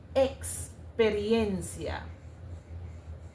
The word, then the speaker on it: experiencia: But then when you go to the Spanish language, the sound that you actually get is a ks sound, right? A ks sound. Experiencia, which is the same as the x sound.